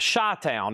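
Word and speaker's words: Chi-Town: That's pronounced Shy Town as in Chicago.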